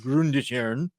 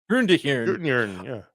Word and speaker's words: Grundetjern: Colors by Espen Grundetjern. And of course, Court. There's no way that's not pronounced with the soft J. That is a Nordic. No, but it's a Jern. Sure. Yeah, for sure. Yeah. Grundetjern.